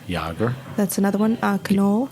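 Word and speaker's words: Knoll: g e r yoger that's another one uh canol k n o l l canol it's pronounced canol yes now give me those are the beautiful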